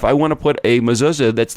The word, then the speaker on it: mezuzah: I mean, it's like if I wanted to have, and I'm Jewish, so, and it's not mezuzah, it's mezuzah, Strick. I mean, that would be my pronunciation of it.